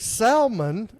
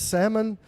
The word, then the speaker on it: salmon: G FL last night I cooked I cooked salmon as I call it cuz phonetically I mean that's the way it's spelled